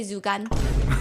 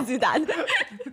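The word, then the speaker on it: 朱丹: start saying, it's okay, Zugan. So they're getting her name wrong. Okay, because her name is Zudan. Zugan. Also, I think it means pig liver, right? Jugan, yes.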